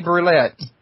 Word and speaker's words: Brulette: It's actually easier to say than to spell. It's roulette, like Russian roulette with the B in front of it. So. Okay, so it's Brulette.